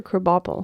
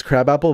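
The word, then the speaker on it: Krabappel: kople yeah poor kople is it crab apple or kopel kople yeah I think you're right it's it's crab apple but they Chang the pronunciation oh it's kind of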